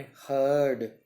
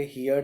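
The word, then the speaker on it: heard: देखिए आप, इंपॉर्टेंट बात, हियर, यहाँ पर भी ध्यान रखना है आपने, हर्ड, हर्ड। बच्चे बोलेंगे हियर्ड, हियर्ड नहीं है, बहुत ध्यान रखना है आपने, हर्ड, हर्ड।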